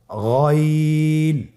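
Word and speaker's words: غين: এভাবে উচ্চারণ করা যাবে না, যেহেতু হরফটি মোটা, এই জন্য মোটা করে উচ্চারণ করতে হবে গইন।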